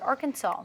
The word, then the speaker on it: Arkansas: colonized the state they gave the word a special French twist as can be seen by the silent S at the end of the word Arkansas now Arkansas is also